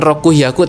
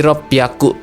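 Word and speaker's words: 六百: 600 ini bukan roku hiaku tapi R piaku. Jadi H-nya kasih maru ya kasih buletan kecil jadi P gitu ya. Jadi rob piaku gitu ada su kecilnya.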